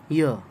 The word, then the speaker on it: year: Next word is YEAR, ईयर। इसे ईयर नहीं पढ़ते, ई साउंड से इसका